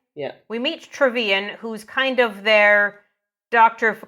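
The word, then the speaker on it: Trevean: uh so we meet trevian Tran how was it pronounced travan yeah we meet travan who's kind of their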